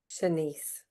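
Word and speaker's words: Shanse: Senise. Senise.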